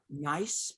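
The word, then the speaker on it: Niise: One is Nice, but they spell it N-I-I-S-E.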